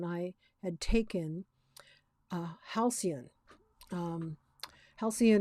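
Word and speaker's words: Halcion: had taken a halcyon halcyon is um i believe is how you pronounce it halcyon is a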